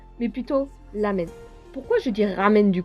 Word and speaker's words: ramen: D'ailleurs, permettez-moi de vous dire qu'on ne prononce pas ramen, mais plutôt lamen.